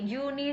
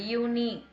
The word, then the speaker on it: Juni: ஸோ ஜூனி சொல்லக்கூடாது, யூனி.